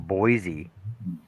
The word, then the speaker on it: Boise: Like you pronounce the E on Boise, but yet technically Illinois should be the same as that, right?